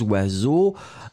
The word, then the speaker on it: oiseaux: Alors oui, effectivement, hein, donc là encore, un oiseau, même catégorie, des oiseaux, avec un X à la fin, mais vous ne le prononcez pas.